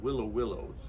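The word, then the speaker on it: Huilo Huilo: We went to the South American Andes in Chile once to a place called Willow Willows. It's spelled Huilo.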